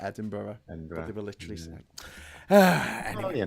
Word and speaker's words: Edinburgh: were going up to edenburg and the whole time we were like what the hell are they talking about edenburg what and then we realized they were talking about Edinburgh they were literally well